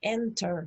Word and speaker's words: enter: Lo mismo pasa con enter, no es enter, es enter.